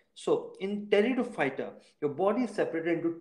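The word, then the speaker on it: Pteridophyta: the next one is teredo fighter in this p is silent so in territor fighter your body is separated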